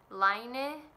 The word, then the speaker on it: Lane: can call it lane there is two pronunciations of this word line a and Lane and both apparently are acceptable so I'm gonna say